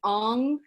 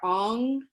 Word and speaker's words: Ong: comes out that's why i wanted to make the clarity between aung and om can you see how different those words are ong and om and if i